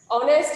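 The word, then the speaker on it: honest: বাংলা উচ্চারণ হচ্ছে কি হ, এইচ এর বাংলা উচ্চারণ হ। তাহলে যেমন হর্স, আচ্ছা অনেস্ট, আওয়ার, অনারেবল, এক্ষেত্রে খেয়াল করো কনসোনেন্ট দিয়ে শুরু হলেও এক্ষেত্রে কিন্তু এ বসবে না, কি বসবে?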